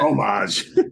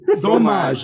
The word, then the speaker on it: dommage: Another one was Beau Dommage, which they were the big cheese, the nice cheese. Oh, fromage, isn't it? Fromage. Dommage, not fromage. Dommage.